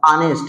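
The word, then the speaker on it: honest: इसी प्रकार से ये ऑनेस्ट, इसका प्रोनाउंसिएशन क्या होगा, ऑनेस्ट, ये हो जाएगा ऑनेस्ट। अब देखिए ऑनेस्ट हो गया, इसका प्रोनाउंसिएशन क्या है, आ, इसी ये भी आ रहा है हिंदी के स्वर में, तो यहाँ भी लगाएंगे हम एन।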